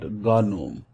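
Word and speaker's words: GNOME: here this is a basically known as or pronounced ad Ghanim which is a graphical user interface and set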